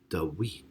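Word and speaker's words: דוד: But in biblical Hebrew, the V was really pronounced as a W, and the second D in David was actually pronounced as TH. And so that makes David or David, Dawid.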